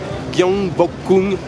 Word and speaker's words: Gyeongbokgung: Bref, je suis arrivé au palais de, alors la prononciation les amis, Gyeongbokgung Palace, c'est le palais de Gyeongbokgung.